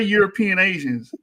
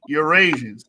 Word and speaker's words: Eurasians: Don't say European Asians. Eurasians. Say it with me. Eurasian.